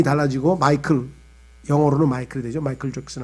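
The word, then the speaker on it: Michael: 이 미가엘이라고 하는 이름은요, 영어로는 이게 마이클이야. 마이클 잭슨 할 때 마이클. 그죠? 근데 이 마이클이라고 하는 영어 발음이고, 이것이 이제 예를 들면 라틴어로 가면은 미켈이 돼요.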